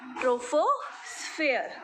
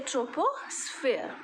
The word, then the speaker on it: troposphere: the word with me that is rofo sphere or you can say troposphere okay the both pronunciations are correct it's a tofu sphere